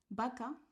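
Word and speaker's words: vaca: So sounds B and V are the same B.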